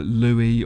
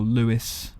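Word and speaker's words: Louis: along so there's one called Louie or Lewis depending on how you like pronouncing that there's yakumo who was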